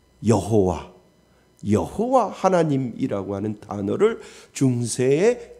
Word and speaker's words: 여호와: 후에 히브리어 자음이 야회 YHWH의 아도나이의 모음을 합쳐서 중세 라틴어식으로 발음한 것이 바로 우리가 흔히 아는 뭐요? 여호와.